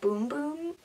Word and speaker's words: Bum Bum: is kind of funny supposedly you're supposed to pronounce it boom boom I think I read that somewhere but let's be honest like that's bum bum don't have to just